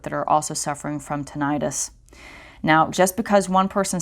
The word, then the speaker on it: tinnitus: Tetanus, also sometimes pronounced tinnitus, I prefer tinnitus, is ringing in the ears, and in the